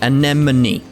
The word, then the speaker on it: Anemone: It's like, it's the spelling of the word just screws up my head. It's anemone. It's like, it's even spelt the way it's said, but you know.